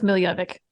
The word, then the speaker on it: Miljevic: How do you pronounce it? We're going with Miljevic.